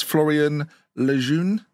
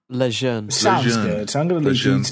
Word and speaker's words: Florian Lejeune: It's Florian Lejeune. Lejeune. It sounds like you're doing an M&S advert with these pronunciations.